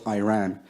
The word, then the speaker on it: Iran: a country's name wrong our country is named Iran not Iran please once and for